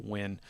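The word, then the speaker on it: Nguyen: any yeah when I you don't even say the n and the name when it's the NG uis of Vietnamese name this was just pronounced win but uh oh yeah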